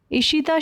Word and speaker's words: ऋषिता: ठीक है, ईशिता शर्मा रहती थी बेटा। Bengaluru based ईशिता Sharma are is silent, ठीक है, started her journey of zero waste lifestyle 6 years ago।